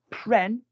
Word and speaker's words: prennent: Ils prennent. Rhymes with 10.